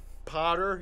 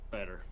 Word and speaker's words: Patter: Okay, so it's like batter, but Patter.